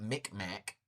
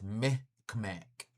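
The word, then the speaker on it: Mi'kmaq: And it's not Micmac. It's Meh K'mac.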